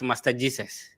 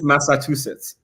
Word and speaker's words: Massachusetts: Somebody said you're studying at Master Jesus. It's Massachusetts. That's how I pronounce it.